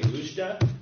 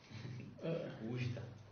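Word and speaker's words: Oujda: Do you say Ujda or Wajda? Ujda. Ujda. Yes. Ujda, yeah. Uh-huh. Something like between the two.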